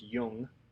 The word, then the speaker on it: Jung: theory and so Freud young and Adler are the three psychologists that we're going to talk about this week um they're the major theorists and I know it says Jung but it's pronounced Yung and Alfred Adler is